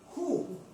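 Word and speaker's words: הוא: En hebreo se pronuncia ju.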